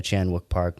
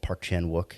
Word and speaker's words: Park Chan-wook: So my favorite twist in a Chan-wook Park movie is, or Park Chan-wook, if you want to say it correctly, is in the movie Sympathy for Mr.